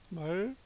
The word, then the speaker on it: 말씀이: 얘는 분철로 쓰면 말씀이 이렇게 쓴다는 뜻이고, 연철로 쓰면 미음이 넘어가서 말씀이, 이걸 말쌈이라고 읽지 마세요, 그냥.